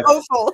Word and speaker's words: offal: Which is why I say offal. Yeah. Yeah. O-F-F-A-L, everyone. That's how you spell it.